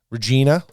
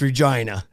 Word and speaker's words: Regina: So I was down in like Regina, and that's not how you say it. That's Regina.